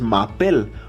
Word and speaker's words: m'appelle: m'appelle, sino que es m'appelle. Porque en francés la E-L-E se pronuncia como la EL en español, como él.